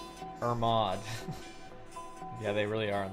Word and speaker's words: Hermod: square instruments or mod her mod irma i call it irmod but that's probably like why would i why silent h i don't know it's h-e-r-m-o-d why